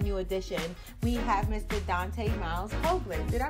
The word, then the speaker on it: Dante Miles Hoagland: Dante Miles Hoagland. Did I pronounce that right?